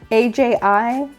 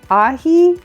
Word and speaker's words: aji: A-J-I? Ahi? Aji? Ahi. Ahi? Ahi? Let's just say it's ahi.